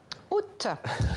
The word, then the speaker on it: août: Août. Vous prononcez le T final.